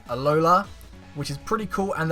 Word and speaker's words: Alola: proba pronounce this wrong it's alola it sounds like um Aloha but it's alola which is pretty cool